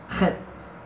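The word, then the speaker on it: ח: Eu não sei como é que é a pronúncia do alemão, você diz, né? Então vai ser um Bach, né? Bach, né? Então Het, Het.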